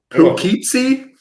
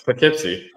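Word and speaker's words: Poughkeepsie: Puketsy. Pipsy. Pipsy. Pookeepsy. No, it's Pipsy.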